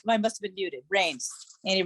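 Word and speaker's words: Raines: say it oh I must have been muted rains and it rains how do you spell that r-a-i-n-e-s oh thank you thank you thank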